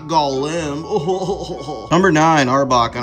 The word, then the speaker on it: Golem: pronouncing his name wrong it's Golem not Golem oh number nine Arbok